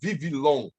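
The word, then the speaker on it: Βιβλίον: Hoje, no grego falado na Grécia, seria Vivilon. Eles pronunciam o B com som de V, que significa rolo, papel,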